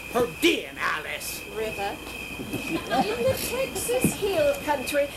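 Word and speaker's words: Pedernales River: Pronounced Pertinalis River.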